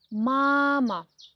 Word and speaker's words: мама: Например, мама. Первый слог ударный.